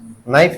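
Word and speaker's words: knife: नाइफ लिखा है। भले के से शुरू हो रहा है लेकिन हमको लिखना क्या पड़ेगा? न आ गई बात समझ में?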